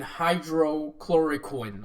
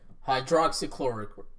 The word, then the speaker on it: hydroxychloroquine: with the debate surrounding high clora coin I believe that's how you pronounce it how drops chloroquine yes ok hydroxychloroquine okay so there are a